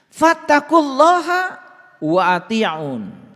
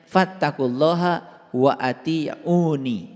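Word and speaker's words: فاتقوا الله وأطيعون: Fattaqullaha wa ati'un. Nah ini sebetulnya dibacanya harusnya fattaqullaha wa ati'uni. Dibacanya harusnya begitu. Fattaqullaha wa ati'uni.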